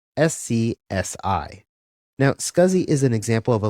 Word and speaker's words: SCSI: as a small computer systems interface which is pronounced scuzzy SCSI now scuzi is an example of a legacy parallel bus